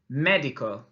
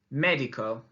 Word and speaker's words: médico: Now, you'll notice there's an accent on the letter E of médico. What does that mean? Estupendo. It means that we need to really stress that sound as we say it.